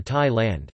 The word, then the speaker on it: Thailand: Thailand or Thailand, Thai, Prathasthi Rtgs, Prathat Thai, pronounced Prat e circumflex Ttaj listen, officially the